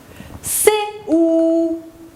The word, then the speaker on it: cou: C, OU, cou. Très bien. C, dit OU, sou. Je répète. C, OU, cou. C devant O se prononce co. Comme ici on a le OU, je lis cou.